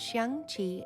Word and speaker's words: Xiangqi: Chinese chess, pronounced Xiangqi in Chinese, is a board game sometimes also referred to as elephant chess.